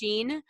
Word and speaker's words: Shein: But yeah, you always have the most creative stuff, and you literally get things from expensive to how is it pronounced? Shein. So Shein, Yep, and that's where your glasses are coming, actually.